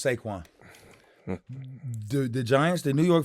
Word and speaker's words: Saquon: One word, 2 syllables. Saquon.